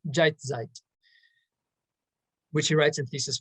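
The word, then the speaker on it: Jetztzeit: and now which um in german is pronounced jeitzeit which he writes in thesis 14.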